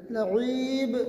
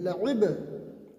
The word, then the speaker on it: لعب: اور اس طرح ہم وقف کریں گے لعب، اس طرح نہیں کریں گے لعیب نہیں، لعب.